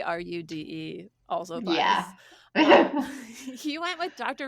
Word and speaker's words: Roode: named John Roode and it's spelled r o o d but basically Ru D also he went with